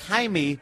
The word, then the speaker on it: Jaime: it's not that it's it's Jaime in Spanish yeah it's pronounced Jaime because of the J right you're stupid who